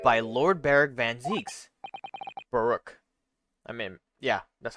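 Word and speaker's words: Barok: I said Barrick. I think that would have a CK if it was Barrick and an A instead of an O.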